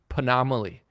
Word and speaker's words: Panomaly: friend of mine that's named Panomaly. Rhymes with anomaly.